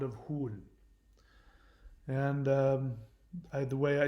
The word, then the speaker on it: Hul: We can instantly connect to her immense power through the ancient and sacred sound of Hul. And the way I spell that is like this.